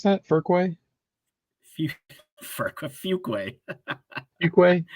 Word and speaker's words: Fuquay: Fuquay. Fuquay? There's no R in there.